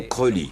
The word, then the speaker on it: Crowley: nourrit ses rêves de grandeur il voulait qu'on prononce son nom creully car il disait que ça rimait avec pauline